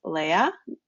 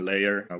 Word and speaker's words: Leyr: My name is Anna, and today we have awesome guest who is building a startup called Leyr. Am I pronouncing it correctly? Yes, Leyr, all good.